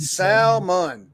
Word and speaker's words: salmon: I can You don't say the L. See, look. Silver hair stacket. Salmon.